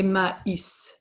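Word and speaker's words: maïs: But in this case we're going to say ma is. So the double dots on top the tma tells you that you actually have to pronounce it as if it was a single letter.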